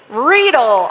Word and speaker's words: Riedl: do yeah so cliff Riedel Riedel Riedl I always want to say that one wrong it's spelled weird to me you should spell it